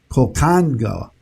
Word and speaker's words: Conchagua: I looked it up to make sure I pronounced it right. Colcanga, that's what it is. Conchagua volcano to take advantage